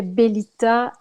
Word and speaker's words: Bellita: donc je vais prendre le nom beliet à qui se prononce bien dans toutes les langues donc c'est comme ce qui est bel ita et n'est donc jamais